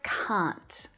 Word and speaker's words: can't: Theo ngữ điệu của mình, nó nghe như từ ' car' nhưng với một âm cuối , được chứ?